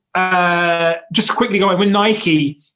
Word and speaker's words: Nike: just quickly going with nike right and i'm pronouncing it in the american way the correct way i guess uh nike